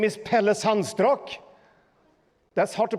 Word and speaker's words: Pelle Sandstrak: much sounds in my body my name is Pele sunstroke that's hard to pronounce in in English sounds struck neurodiversity neurodiversity